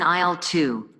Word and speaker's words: aisle: are put on the shelves sure it's in aisle to aisle the products are also arranged in